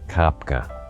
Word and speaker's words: Kopka: My name is Kopka. That's spelled K-O-P-K-A. Some people have a hard time pronouncing it. Just remember, you're going to, if you say cop car, leave the R off.